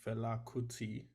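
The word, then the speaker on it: Fela Kuti: writing a dissertation on the Nigerian musician named FTI um that is spelled f f e l a k u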